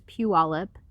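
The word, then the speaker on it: Puyallup: native so we'll say in pualip which is pu olip fond oreo which is pandarei coeur de lin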